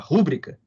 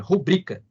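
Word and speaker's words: rubrica: ser chamada também de rubrika a atenção aí para pronúncia né No Português Popular muita gente às vezes fala pública o português formal é paroxítona rubrika então ementa é chamada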